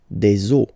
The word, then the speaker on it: os: but then same rule, you don't pronounce it. Des os. Okay, une eau, des os. All right.